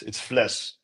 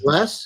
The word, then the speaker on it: Vles: My last name is hard to pronounce though, so it's Vles. Um, Less?